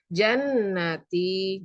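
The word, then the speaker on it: جنتي: Wadkhuli jannati. Jannati di sini ada 2 hukum, yaitu gunnah dan mat asli. Gunnah karena ada huruf nun yang ditasjid, membacanya didengungkan kira-kira 3 harokat, dan mat asli karena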